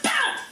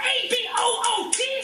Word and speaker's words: about: Which means you always hear my favorite mispronunciation. It's about, you socially polite freaks! It's about A-B-O-U-T, not A-B-O-O-T!